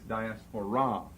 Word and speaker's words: diaspora: okay that's four off the Greek accent falls on the last syllable we're going to give it as English pronunciation the English accent Falls here dot asparate the Greek it's diaspora and you raise your